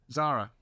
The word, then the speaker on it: Zahra: Zara have I pronounced that correctly yes yes you're happy with